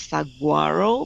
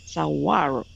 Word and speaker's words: saguaro: I like to pronounce it as saguaro, but actually it is a Spanish word, saguaro, silent G.